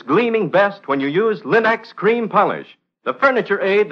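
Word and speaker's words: Linx: You'll find all 3 great Linex home brighteners, Linex Self-Polishing Wax, Linex Cream Polish, and Linex Clear Gloss Varnish at your nearest hardware, paint, or department store.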